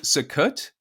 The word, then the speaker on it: Sukkot: How about what is Sukkot? How do you pronounce it?